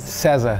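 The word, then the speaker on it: César: seas out of Chicago how do you say it in Portuguese cezzah cezzah to the Teddy Orson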